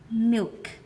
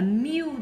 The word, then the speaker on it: milk: Milk. Milk, không phải là mew giống như kiểu con mew, mèo mew mà chúng ta vẫn